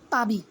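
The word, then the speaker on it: Paris: এইটার উচ্চারণ হচ্ছে যে বিয়াদে পাবি, ওরা প্যারিসকে পাবি বলে।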